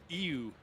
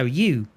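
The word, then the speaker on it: ewe: In Canada, it's ew. Yeah, where I would say you.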